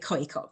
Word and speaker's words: COICOP: I have no idea how to pronounce it, but despite it being an acronym, call it COICOP.